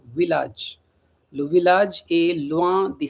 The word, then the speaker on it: village: Okay, the spelling is same like English but in French we pronounce village.